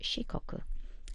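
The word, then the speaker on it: 四国: been four different regions administrative regions and it's pronounced shikoku let's go down and find it on our map it's this very tiny one here shikoku and the box that you need to fill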